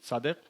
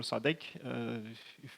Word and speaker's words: Sadegh: that is compound, but typically I go with Sadegh or Sadegh, if you will pronounce this way.